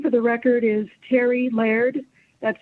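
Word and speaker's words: Terri Laird: committee members my name for the record is terry laird that's spelled t e r r i l a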